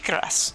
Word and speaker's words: Cuirass: Orochi Cuirass. Yes. Is it Orochi Kuros? It's pronounced Cuirass.